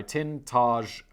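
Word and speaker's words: Tintagel: be perused here in tintergel and danny provided me a pronunciation guy tin taj let's just call say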